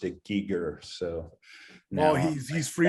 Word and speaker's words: Giger: yeah i think it i always called the geiger and then someone corrected me one day and said he pronounced it giger so no he's he's free to pronounce his